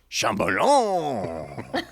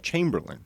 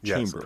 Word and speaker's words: Chamberlain: Have I Got News for You writer Shambalong.